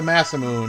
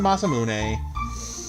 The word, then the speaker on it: Masamune: I call it the Masamoon when I was 13 years old in 1995. But no, it's the Masamune. That's absolutely the correct pronunciation. Some of the ones I cling to what I called them when I was a kid, but no. Ma Masamune is definitely the correct pronation.